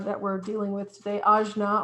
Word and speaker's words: Ajna: we're dealing with today ajna or sometimes pronounced agna is all about your